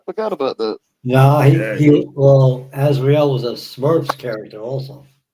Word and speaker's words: Azriel: I hope I'm pronouncing it right. It's Azriel.